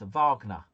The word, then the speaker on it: Wagner: Uh Wagner is pronounced a vagna. Yes, simply splendor. I'm sure it is. But to me, it'll always be Wagner.